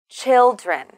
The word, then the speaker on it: children: many many children children children this word is the plural form of the word child also we need to stress the first syllable listen children children do do you you